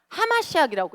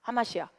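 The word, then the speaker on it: המשיח: 하마시학이라고 읽어요. 하마시아. 근데 히브 그 메시아라 메시아라고도 하는데 우리가 알고 있는 그 메시아 말고 원래 원어로 들어가면 하마시학이라고 합니다.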